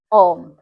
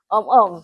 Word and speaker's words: ohm: Resistance di sini diukur dalam satuannya ohm ya. Tapi dibacanya jangan sampai dua kali ya itu jadinya om-omm seperti itu.